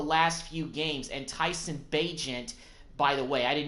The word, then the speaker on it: Bagent: has missed the last few games, and Tyson Bagent, by the way, I did not know that's how you pronounce his name until I looked it up